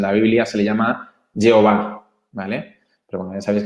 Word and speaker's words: Yahvé: le llamamos, en la Biblia se le llama Jehová, ¿vale? Pero bueno, ya sabéis que se pronuncia distinto, entonces es Yahvé.